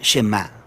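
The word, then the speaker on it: שמע: es Oye o escucha Y en hebreo se pronuncia shemá de ahí es de donde viene el nombre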